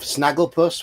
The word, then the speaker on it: Snagglepuss: It's a GIF of Snagglepuss, which rhymes with sarcophagus, sort of.